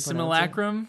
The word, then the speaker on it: simulacrum: How did you pronounce it? Simulacrum?